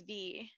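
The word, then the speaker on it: Vy: My name is V, but it's spelled V-Y. It's V.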